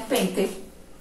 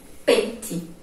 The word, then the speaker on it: pente: Mas na hora de pronunciar, algumas pessoas falam pente. Pente. Certo? Qual vai ser a sílaba forte dela? Esta daqui. Esta, pen, pen, vai ser a sílaba tônica, ou seja, a sílaba forte. Então, por isso, algumas pessoas, ao pronunciarem pente, o E soa com som de I, certo?